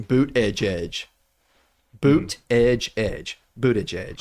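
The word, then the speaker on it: Buttigieg: say his name because everyone was like phonetically doing boot Edge Edge boot Edge Edge booted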